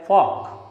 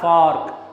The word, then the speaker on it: fork: kept as silent and it will be pronounced as fork, not fork. हम इसे fork नहीं कहेंगे जैसे हम कई बार फ्रूट्स खाते हैं। It is pronounced as fork.